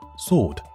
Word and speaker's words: sword: ，所以这个词读作 sword 而不是 sword.